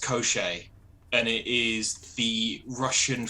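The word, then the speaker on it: Koshchei: ooh, I don't know why it's got all those X's in it, but according to the pronunciation guide, this is pronounced Koschichi.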